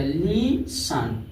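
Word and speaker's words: listen: जैसे देखिए टी ई एन है तो ई टी साइलेंट हो जाएगा, लीसन क्या हो जाएगा लीसन।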